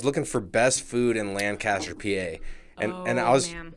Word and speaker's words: Lancaster: it is lancaster lancaster lancaster kiss like lancaster yeah and you people know you're not from lancaster if you say lancaster because there's a lancaster california but we're lancaster pennsylvania lancaster okay i've been saying